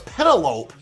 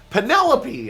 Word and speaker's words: Penelope: Oh, it's uh Penelope. I always thought it was Pedalope. Penelope. I'm like, "That sounds way better than pedalope."